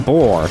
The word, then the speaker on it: Bor: So during that conflict, the father of Odin, Bor, Get it? Rhymes with defeats Thor.